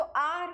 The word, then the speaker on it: hour: एन आर, अब देखो जो आर है HOUR, ऑनेस्ट की तरह ही जो आर भी है वो भी क्या है, एन आ रहा है उसके साथ। क्यों? बिकॉज जो H होता है वो यहाँ पर साइलेंट होता है।